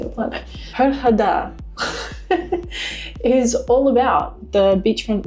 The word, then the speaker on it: Hurghada: As I understand it, I'm saying it wrong. It's not hug harder. That's like the most Australian motives thing on the planet. Herada is all about the